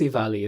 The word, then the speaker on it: EVALI: I think it's EVALI. That's how you pronounce it.